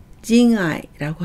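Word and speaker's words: 仁愛: 인해를 징아이라고 하고요.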